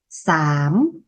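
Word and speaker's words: ສາມ: Ba, sám.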